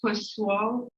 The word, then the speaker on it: Poiseuille: work was done by the same guy the pus wall p o i s e u i l l so you can spell it so his law and he heard a